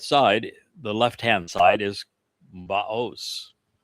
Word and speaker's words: Boaz: And the one on the north side, the left-hand side, is Baos. Sometimes it's pronounced as Boaz, but Oz and Oz, it's the same verb in Hebrew.